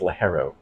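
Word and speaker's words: ligero: it's I think it's actually pronounced lahero um and and the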